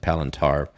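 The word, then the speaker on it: Palantir: l i n t a r palantar turds palantur but it's pronounced palintar palenter and bitcoin i want to see if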